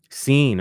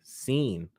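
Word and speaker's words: Cine: do you pronounce this it's c-i-n-e scene okay thank you pro football reference pronounced scene so Lewis scene uh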